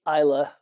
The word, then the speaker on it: Islay: And he's like, but you really want to try there's the Highland area, the Speyside, the Isla. It's spelled Islay, but it's pronounced Isla.